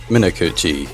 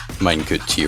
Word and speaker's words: Muchi: Mu is certainly a very very strong low lower SV hidden player and uh Minuchi can just kind of play everything. Muchi rather that's that's how the name is pronounced.